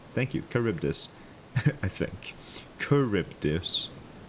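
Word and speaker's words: Charybdis: And it's pronounced caribus. Okay. Thank you, T. Thank you. Caribus, I think. Kuribdus. Curibus.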